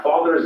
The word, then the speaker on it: father: two words father father notice that the final r sound is not pronounced in british english the father ends in a simple schwa vowel like father and in